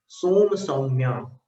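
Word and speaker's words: सोमसौम्या: सोम है पहली बार और दूसरी बार सौम्य है, सोम सौम्या ऐसा उच्चारण।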